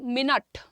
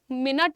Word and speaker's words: minute: Next देखिए minute. Minute नहीं होता है, it is minute. Knit. Literally you have to say knit.